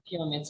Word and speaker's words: pyramids: The first syllable is stressed, pyramids.